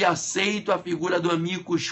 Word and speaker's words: amicus: Amicus curiae. Se escreve A-M-I-C-U-S, amicus Ah, isso aí fica até estranho, né?